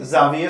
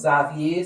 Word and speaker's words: Xavier: would you please clarify xavier strings is with an ex so anzac is a word that can be pronounced xavier xavier xavier all of them are xavier same with